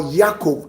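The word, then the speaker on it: יעקב: And then he went ahead to declare that from today henceforth, Jacob, or Yaakov in the correct pronunciation, he has become his portion.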